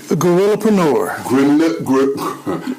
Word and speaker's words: Guerrillapreneur: How would you pronounce it? Gorillapreneur.